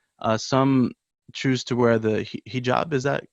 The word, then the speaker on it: hijab: and Islamic beliefs some choose to wear the hijab is that how you pronounce it yep that's right yeah and I